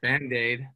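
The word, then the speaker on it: Bandade: i make music now uh my name is bandaid that's like my artist name hey but it's spelled differently it's spelled b-a-n-d-a-d-e and so i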